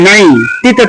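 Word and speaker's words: night: যেমন ধরেন এন আই জি এস টি, জিএস উচ্চারণ বাদ, এন আই নাই, টিতে তো নাইট, নাইট, আর আই জি এস টি,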